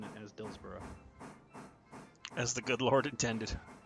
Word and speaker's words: Dillsborough: Also, once again, I am very happy that you started pronouncing it as Dillsborough.